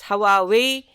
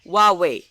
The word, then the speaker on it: Huawei: it I'm pretty sure most people have been pronouncing this name as how are we that's not how you do it you pronounce Huawei that H is a bit silent here now when you